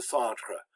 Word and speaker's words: centre: And then we've got tre, which again, the E is very short, le centre. So it's pretty much only one syllable long.